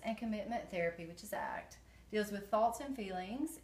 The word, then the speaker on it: ACT: analysis acceptance and commitment therapy which is pronounced act and its on values